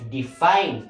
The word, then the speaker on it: define: Kinahanglan ang pagbasa niya kay define. Define. So, asa dapat ang stress? Ang stress na yan nasa ikaduha nga syllable. Kung sa ganito ang rule, kung ang stress nasa ikaduha nga syllable, ang letter I, mahimo siyang mabasa siya as I.